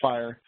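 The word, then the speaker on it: FHIR: however they do recommend the fhi spec which is I guess pronounced fire um they do recommend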